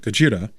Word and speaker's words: Gojira: Warning, I'm not going to mispronounce it Godzilla and pronounce it Gojira.